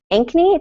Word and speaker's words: Ankeny: So Jodi Larson has spent the past 9 years as a physical education teacher in Ankeny. Did I pronounce that correctly?